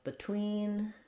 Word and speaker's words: between: So behind is a similar, many other words that start with BE that are unstressed on the first syllable do the same thing. We have between, before, beside.